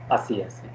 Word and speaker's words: así: So así así again has an accent on I letter. So you have to be giving stress on that I part. So it would be yo estoy así así.